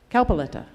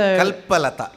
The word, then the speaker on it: Kalpalata: Kalpaletta. I always mispronounce her name. So Kalpalata means Kalpaletta. Kalpalata. Like a kalpataru, Kalpalata.